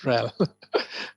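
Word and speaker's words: RHEL: they call it real okay hell that's that's how you that's how you pronounce it rel that had enterprise linux okay there is no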